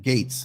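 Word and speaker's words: Gaetz: Mr Trump Florida Congressman Matt Gates that's how you pronounce his name was one of the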